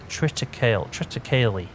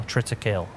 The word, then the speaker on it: triticale: It's triticale, or triticale, however you want to pronounce that.